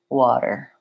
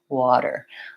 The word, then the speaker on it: water: I am voicing that T and it sounds more like water water I'm touching lightly up